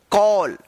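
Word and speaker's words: call: यहां पे आपको हम बताए थे कि सी का दो उच्चारण होता है। कहीं पे स तो कहीं पे क उच्चारण किया जाता है। तो यहां पे सी का जो है ना क उच्चारण हो रहा है। सी ए डबल एल कॉल।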